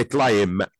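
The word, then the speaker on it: climb: عندي الجديده مديني الفعل كلايم كلامم كلايم قلنا البي فيها سنت مش ننطقها اي بي بتجيلي بعد الام اي بي بالمنظر ده اللي هي البي الخفيفه ديت بتيجي بعد الام بنطقها يبقى كيم بمعنى يتسلق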